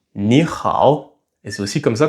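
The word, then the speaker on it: 你好: deux au troisième ton, alors le premier ni va passer au deuxième ton. Et donc on ne dit pas ni hao mais on dit ni hao et c'est aussi comme ça qu'on se salue.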